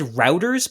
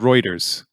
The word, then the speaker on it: Reuters: And I've actually said, I think I've said routers before. Is it Reuters, routers, or routers? I've always called it Reuters.